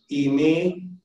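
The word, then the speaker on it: εἰμί: And in Greek, the two most common are the verbs imi and yenemi.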